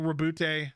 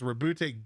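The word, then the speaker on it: Roboute: gonna end up being rebute which is how you say it's rebute Gilman uh which is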